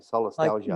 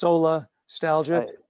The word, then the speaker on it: solastalgia: yeah, it's SOLA, solar, STALIGIA, Like solastalgia. nostalgia, but it's solastalgia.